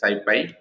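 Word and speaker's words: SciPy: don't try to observe here the Skippy Skippy pronounced as like this Syfy is a python-based ecosystem of open source software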